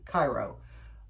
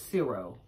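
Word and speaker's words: Ciro: put uh uh chrissy pronounced it cairo but i thought it was zero but it's c-i-r-o it's signed on the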